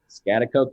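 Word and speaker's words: Schaghticoke: Scotticoke, New York. Yeah. Some people, I'm honestly impressed how to pronounce it like the first time.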